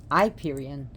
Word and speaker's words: Hyperion: daughter and her of Hyperion I iperian Hyperion how we pronounce it here Hyperion is her father